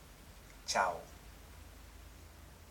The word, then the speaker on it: tchau: to tchau.